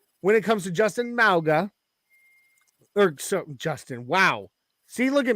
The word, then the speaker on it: Mauga: It's Mauga. Yeah, Mauga. Yes. You've only you know me and how I am about pronouncing names.